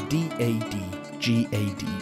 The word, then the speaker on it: DADGAD: My guitar is tuned to D-A-D-G-A-D, pronounced Dadgad.